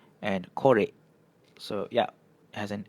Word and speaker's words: korek: This one relates to the second rule so you can see it's always E paired with an O, you get an "eh" sound. For example: esok, ekor, and korek.